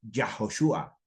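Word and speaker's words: יהושע: Yeshua HaMashiach, así se pronuncia en español, pero en el hebreo es Yahoshua, Yahoshua HaMashiach.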